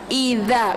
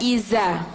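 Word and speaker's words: إِذَا: yang bertitik disuruh al-falaq ini pakai dahrizal Izza bukan Iza ya wamil Syahrin nafasati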